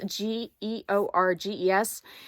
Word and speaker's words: Georges: it's spelled like Georges g-e-o-r-g-e-s and if you look up the French pronunciation it's the S is silent and so it's like Georges that's about what it